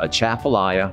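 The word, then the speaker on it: Atchafalaya: difficult when you look at it but it's pronounced a chaffelaia basin and it's a large body of water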